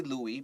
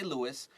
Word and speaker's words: Louis: We have Louis, or some people would say Louis, but we'll say Louis, and Charlotte. 没错，我们现在这个对话里面会有两个主角，一个呢是 Louis，有的时候你会听到外国人他这个名字也会有那个 s 会不发音，但在这里我们是发音的，我们会是 Louis，还有这个女主角 Charlotte，他们两个人。